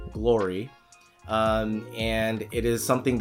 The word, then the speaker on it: Gloire: the glory line it's spelled g-l-o-i-r-e it's not pronounced glory it's glory um and it is something that they sell